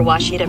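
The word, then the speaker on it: Ouachita: pronounced Oita searching for wasita Baptist University back in Texas everybody pronounces it witch but really it's wash wash wash how would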